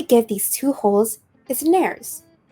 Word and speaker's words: nares: these two holes is nares it's helpful to know that the word rhymes with fairies um that is true